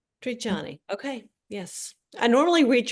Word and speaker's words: Trigiani: So it's Trajani. Triani.